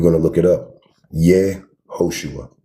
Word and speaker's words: Yehoshua: This is how you say his name. Screenshot it if you got to. Please, for your own sake, stop blaspheming his name. His name is Yehoshua.